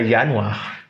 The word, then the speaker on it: Januar: On a la lettre J qui se prononce Y en allemand. Donc, on a Januar.